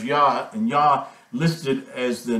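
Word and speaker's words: יה: letters here this is the yard and the hey and this gives you the pronunciation of yah you'll find that this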